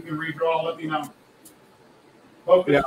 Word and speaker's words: FOKOOS: It's not FOKOOS, it's FOKOOS. Like FOKOOS. FOKOOS in America, say FOKOOS, like the FOKOOS of camera, that's how you pronounce it.